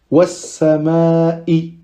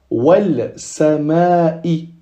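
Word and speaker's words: وَالسَّمَاءِ: Ici, on ne dira pas wal sama'i. On voit que c'est un peu compliqué. Wal sama. On doit s'arrêter pour prononcer le sin. Alors que si on fait le dédoublement du sin, c'est naturel. Was-sama'i.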